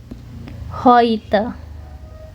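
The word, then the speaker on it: heute: Jadi, keterangan waktu ada ho e ketemu u itu lebih ke ee dibacanya jadinya lebih ke o i hoite.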